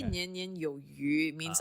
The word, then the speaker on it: Yu: But so like so my last name is Yu, as in like Shen Yu, the Yu, so like access. But phonetically it sounds like fish.